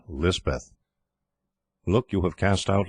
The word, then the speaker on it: Lisbeth: The Kotgarth chaplain christened her Elizabeth, and Lisbeth is the hill or Pahari pronunciation.